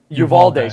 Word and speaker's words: Uvalde: um um the what was it in Texas Uribe am I pronouncing that right I believe so yeah oh what did he say it was uh Uvalde Uvalde sorry Uvalde those are Plug and Play man